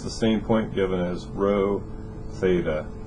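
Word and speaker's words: rho: be row Theta fi row is the distance from the origin to the point so right here is the row as in row row row your boat right but uh that's how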